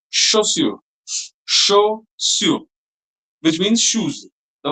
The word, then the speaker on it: chaussure: Pay attention to this pronunciation. It's chaussure.